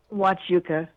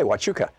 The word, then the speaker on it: Huachuca: do you say that city in Arizona Melissa watch Yuka ok Huachuca what's up um so I've been thinking about